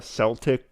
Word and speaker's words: Celtic: In Viking times, she's like a Celtic Viking. I did not say the word right. It's not Celtic. It's spelt like it though.